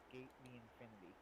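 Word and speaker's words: SK∞: because it was like I've seen it written out as SK and then Infinity, but it's apparently pronounced Skate the Infinity.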